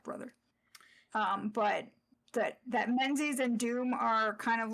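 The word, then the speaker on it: Menzies: So this this leads into what you're going to be doing in gate of pain as well as Balthasar's half brother Menses not not Muses region that tried to get us to believe that that's how that should be pronounced.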